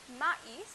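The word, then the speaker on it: maïs: For example, we have mais, mais, which means corn. So now because there is a trema, I am pronouncing the two vowels a and I separately, mais.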